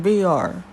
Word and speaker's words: Veer: How do you pronounce his name? Veer.